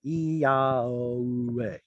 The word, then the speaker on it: Yahweh: How do you pronounce that? Well, there's a transliteration. Yahweh.